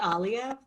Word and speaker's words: Alia: Is it pronounced Alia or Alia? I should have asked you that. It's actually Alia, but Alia, I don't mind Alia, so I didn't correct you. It's Alia sounds just as good, if not better.